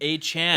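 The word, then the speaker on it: Achane: A-Chan. A-Chan, That's how he A-Chan. wants it pronounced.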